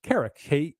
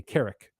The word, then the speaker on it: Carrock: So Tolkien, who wrote a book called the English Dialect Dictionary, and he lists that word in it where it's pronounced Carrock, like K-E-R-E-K, Carrock.